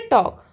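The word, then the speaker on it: talk: Next है टॉक, टॉक means होता है बातचीत करना। तो टॉक जो वर्ड है इसमें हम बोलते हैं TAK, इसमें साइलेंट होता है L, तो यहाँ पर लिख देंगे L और यहाँ लिखेंगे TAK।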